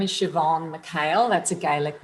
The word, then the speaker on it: Siobhan: bit of background about me my name is shoban male that's a gaic name and pronounced shobon it's a little bit tricky in terms of